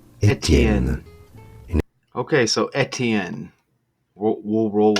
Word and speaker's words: Etienne: In French it is said as Etienne. Etienne.